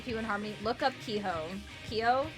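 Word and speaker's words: Keeho: Harmony look up kho Kio is pronounced k e h o Kio from P1 Harmony that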